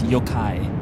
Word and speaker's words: yokai: The second half is guide with a K. Oh, Kai. Okay, so like yokai. Thank you. I actually appreciate knowing how to actually pronounce that. So it's yokai.